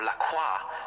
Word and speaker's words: LaCroix: that is your answer Lacroix or Lacroix if you want to be French about the pronunciation is actually headquartered in